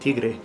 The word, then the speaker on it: Tiggre: Well, first, congratulations for pronouncing it Tigre, but I used to